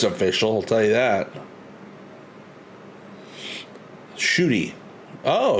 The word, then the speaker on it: Ncuti: I'll tell you that shooty oh you pronounce ncuti as shooty thanks for letting me know I'm going to try to remember that I didn't know NC made a sh sound yeah I like the